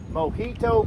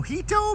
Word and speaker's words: Mojito: the Mo Mo Mo Mo Mo Mo Mo Mojito Mojave. The J is pronounced like an H.